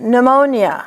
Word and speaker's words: pneumonia: A P and an N at the beginning of the word is pronounced only with the N, like pneumonia or pneumonectomy.